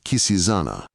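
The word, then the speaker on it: Quisisana: lettering was the word Kisana by which name the retired little dwelling was known throughout the town where they pronounced it with a very soft s and a very broad a.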